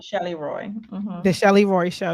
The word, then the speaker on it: Shelly Roy: Shelly Roy.